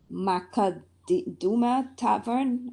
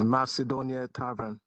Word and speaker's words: Macedonia Tavern: Macaduma Tavern, 9508 Church Avenue. Is there a representative here? Yes, ma'am. Oh, did I pronounce it correctly, sir? Oh, it's Macedonia Tavern.